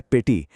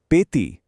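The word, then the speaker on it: petit: लिखा है पेटी, लेकिन बोला जाता है पेती, टी साइलेंट है।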